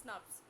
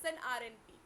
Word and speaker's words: snRNP: snars it is uh it can be uh pronounced as snars that is snrnp okay so this snrnp